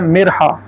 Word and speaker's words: مرحا: کے تلفظ آتے ہیں۔ ایک ہے مرحا، میم کے نیچے زیر اور پھر جو رے ہے یہ ساکن، پھر آگے ہا حکے والی، اور پھر آگے دوسری ہا ہاتھی والی، مرحا۔ تو اس کا مطلب